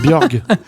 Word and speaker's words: Borg: T'as mal prononcé Borg. Ouais. C'est Björg.